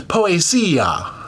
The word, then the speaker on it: Poesia: I think yeah, we've learned that you put the accent on the Z, so it's Poesia.